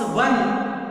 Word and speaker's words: one: O is a vowel letter, but when we pronounce one, it gives sound wa. Wa is a consonant sound.